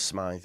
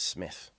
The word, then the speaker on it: Smyth: It might read as Smythe, but it's Smith.